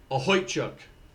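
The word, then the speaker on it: Okhotiuk: um Nikita let me I looked up the pronunciation because it was different than what I was saying where where are we a ho chuk that's how you say his name a ho chuk um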